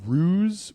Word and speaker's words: Ruse: They had a beer called Ruse, which was spelled like goose, but with an R.